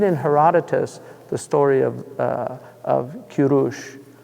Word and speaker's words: Kurush: If you read the story of, if you read in Herodotus the story of Kurush, Cyrus, is that how they say it in Persian? Kurush? Yeah.